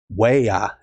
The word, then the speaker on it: waya: case you wonder why I called you waya waya is uh is Cherokee for Wolf so that's